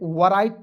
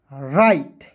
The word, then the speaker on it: write: यहाँ आप देखेंगे WRITE, तो बहुत सारे से दोस्त इसे वराइट पढ़ लेंगे, क्या पढ़ेंगे, वराइट, लेकिन वराइट नहीं पढ़ना है दोस्तों। यदि आप वराइट पढ़ते हैं बिल्कुल गलत है। इसे W को यहाँ पे साइलेंट करना है, RITE को पढ़ना है राइट।